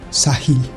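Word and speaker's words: ساحل: Los antiguos árabes dijeron que esa ola, como una especie de ola verde, era como la costa, Sahil. Así se pronuncia en árabe: costa, costra, límite, borde.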